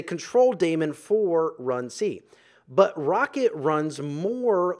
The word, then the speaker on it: rkt: And next we have RKT, which is pronounced Rocket.